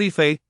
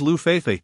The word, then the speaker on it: Lu Feifei: What Yifei? My name is Lu Feifei, she retorted, her irritation evident at the mispronunciation.